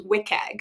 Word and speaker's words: WCAG: or otherwise known as wiag so when you see that wcag abbreviation wiag is like the cool in the know way to pronounce that got it okay okay